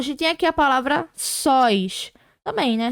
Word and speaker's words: sóis: Sílaba tônica no finalzinho, porque ela é uma monossílaba, que a gente não tem separação. É uma palavra só, uma sílaba só. terminado em OI, porque é um ditongo aberto, então a gente acentua.